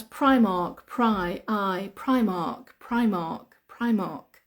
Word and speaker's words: Primark: yeah yeah that's right Argos Argos how to pronounce Primark pry I Primark Primark Primark uh Aldi we